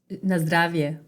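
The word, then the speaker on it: на здравје: And how do you say cheers in Macedonian? Na zdravie. Nostravia, Nostrovia in Russian, and Nostravia in Macedonian.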